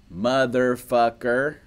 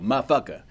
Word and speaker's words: motherfucker: they say motherfucker and listen to how it is pronounced and how many syllables it is counted out, all right? Motherfucker, four, right? The real way to go is a three syllable, motherfucker, motherfucker, motherfucker, M-U-H, muh, or M-A, my, motherfucker.